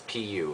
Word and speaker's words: Pu: It is, and I know it sounds funny, but it's Pu, it's pronounced Pu.